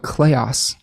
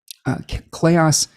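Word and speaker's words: kleos: webinar but there's a uh a concept called clayos clayos amphithon amphithon or amphithon aph t-h-i-t-o-n and chaos is spelled k-l-e-o-s it basically translates to un undying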